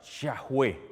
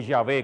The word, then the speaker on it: Yahvé: le pusieron ningún puntito porque ya todo mundo sabía que esto se pronunciaba yajué O yahvé como le decimos yahvé que es y significa